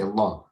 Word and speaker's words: Allah: lamb is heavy right the lamb is heavier when you say it Allah you don't say right you say Allah so here the lamb is it's also heavy here in Allah it's similar to um